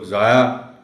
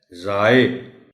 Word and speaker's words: ضائع: مند، قیمتی، ضائع۔ دیکھیں نا، بہت سے لوگ ضائع کہتے ہیں، غلط ہے، ضائع۔ تو یہ ہیں وہ چیزیں جن کا آپ